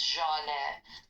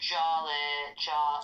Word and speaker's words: Jale: Her name's Jale. So, but people here call her Jale. They don't always know how to say the French J.